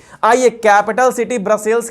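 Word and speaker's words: Brussels: यह head quarter है कौन ब्रसेल्स याद रखिएगा अच्छा से कुछ लोग इसको ब्रुसेल्स भी बोलते हैं तो आप स्पेलिंग ध्यान रखिएगा बच्चों 80 पर फ्रेंच यहां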